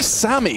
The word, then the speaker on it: SaMey: can't believe it guys it's obviously Sammy that's just how we spell it yeah it's it could be we're go for Sam and I'm Sam I'm I'm going to start